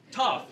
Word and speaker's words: Toph: well, no, it's tough. Toph.